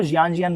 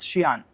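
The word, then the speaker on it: Xi'an: तो अगली बार से कोई बोल, क्योंकि मैं उनको जियान बोल रहा था, तो कह रही ये क्या है, तो उन्होंने मेरे से बताया। तो उन्होंने मेरे से बोला दिखाओ है क्या, तो मैंने उनको दिखाई वो स्पेलिंग, तो कह रहे इट्स शियान, ठीक है।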